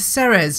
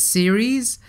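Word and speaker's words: Ceres: a yard pointing to Sarah's now I'm not actually you know what I think I've been pronouncing Sarah's wrong all this time I think she's supposed to be pronounced as series but I just cannot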